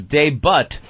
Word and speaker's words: debut: Wake Up with Whoopi made its debut today on... Anthony, the T is silent. Ah. Not really. I think it's kind of a soft T. Debut. Debut.